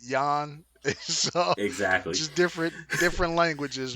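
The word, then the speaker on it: Yan: peter uh yeah because he has a spell with a j but we pronounce it yawn exactly just different different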